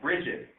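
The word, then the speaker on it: Bridgit: SMART has a particular software, for example, called Bridget. It's spelled B-R-I-D-G-I-T.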